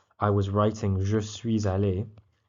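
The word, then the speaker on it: allée: Okay, so if you're a girl, you will say je suis allé, pronounced exactly the same, but you've actually added this extra e.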